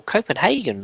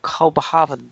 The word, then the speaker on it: Copenhagen: A good victory for Copenhagen, or Kopenhagen, depending on which way you want to pronounce it, 4-0 against Club Brugge, who seem to be the whipping boys of the group.